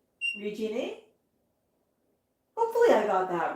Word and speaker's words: Regine: Oh, no, she's phonetically spelling it Regine. Regine?